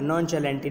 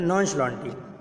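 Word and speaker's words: nonchalantly: यानी सॉरी नॉन्श लॉन्टी, ये शाह की आवाज़ देगा, नॉन्च नहीं पढ़ा जाएगा, नॉन चैलेंटी नहीं, बल्कि ये पढ़ा जाएगा नॉन्श लॉन्टी, यानी हम इसको कह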